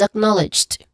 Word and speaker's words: acknowledged: It start it starts with a which is the stress syllable again and it has a short a vowel sound followed by n. N which also has a short a vowel sound and it ends with ledged. Ledged. Okay. Lied. So here um there's a silent e.